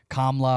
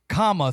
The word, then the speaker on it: Kamala: help, and this is for the people who call her Kamala and Kamla or whatever they say, but it's comma. Think of when you're using grammar and you put a comma in a sentence.